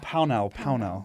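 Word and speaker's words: Pownall: Pownell, yeah.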